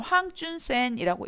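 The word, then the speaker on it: 黃遵憲: 황준헌 한자를 그대로 황준헌이고 그 중국식 발음을 하면 황준선이라고 읽어요 그 조선이란 나라는 어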